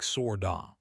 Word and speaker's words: sort of: The T in sort of is a flap T, soft D. So it sounds like sorda.